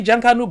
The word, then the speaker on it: Junkanoo: Didn't I say Junkanoo goddess?